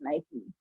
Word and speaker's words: Nike: The brand itself says that this is how you pronounce our brand, so that's how we should pronounce it. It's Nike.